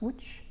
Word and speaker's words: Łódź: J'ai été invitée par Raphaël Stopin en résidence de création à Łódź, en Pologne, qu'on prononce Łódź.